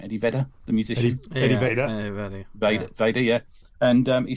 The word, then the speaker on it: Vedder: Eddie Vedder.